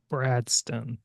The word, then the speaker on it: Bradston: So, uh, the the easiest way to remember how to say it is like Winston. That's my dad's name. Brad. Bradston.